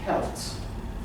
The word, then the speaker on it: Celts: Okay, so the word he's using here is, it's pronounced Celts. Oh, Celts.